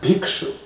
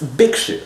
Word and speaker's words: Bhikshu: So when you have a word like Bhikshu, right? So in India, for example, you might hear this pronounced as Bhikshu. But in American English, it's Bhikshu. It's a harder B sound.